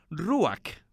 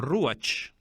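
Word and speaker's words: רוח: o al aire libre se pronuncia ruak o ruach y quiere decir el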